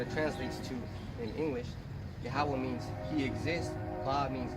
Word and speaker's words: Yahweh: 3 syllables, Yahweh.